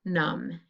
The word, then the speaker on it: numb: all here it is num right if your body goes numb you can't feel it and it has the silent mb combo with the b being the silent part okay great job so